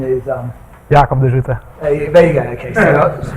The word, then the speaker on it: Jacob de Zoete: Is going to be, the English pronunciation is Jacob de Zoete. Okay, the Dutch pronunciation is Jacob de Zoete.